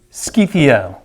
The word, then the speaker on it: Scythia: Scythia. You can spell it if you want to, Scythia, S-K-Y-T-A, or S-C-Y-T-H-A.